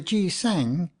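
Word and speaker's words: gisaeng: flower has evil associations the G sang as the Koreans pronounce the name of the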